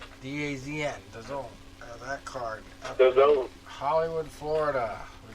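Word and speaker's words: DAZN: you're going to say it right the azn the zone that card hollywood florida we got demetrius andrade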